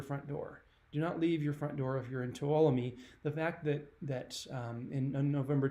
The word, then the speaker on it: Tuolumne: I actually looked this up. Tuolumne, yeah, I did get it right.